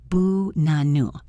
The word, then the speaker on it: banana: The word banana. The stress is on the second syllable. The first and last A's are schwas. Boo-na-nu. It is not ba-na-na.